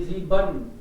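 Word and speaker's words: sieben: ये जीवन, ई एन को अन, बी ई एन को बन, टी ई एन को टन, के ई एन को कन, अन पढ़ते हैं ना, इसलिए ये साउंड आता है।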